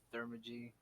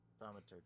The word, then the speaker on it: Thaumaturgy: And I light one up using my, how do you say that's thermagy? Thaumaturgy.